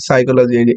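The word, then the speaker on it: psychology: এটাকে বলা হচ্ছে সাই সো পি এখানে সাইলেন্ট এই পি টা হচ্ছে সাইলেন্ট সাই এই চল থেকে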